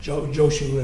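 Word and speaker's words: Jōshū: That's the way Chinese master Nanuan told Jao Joe or Joshu as the Japanese pronounce it.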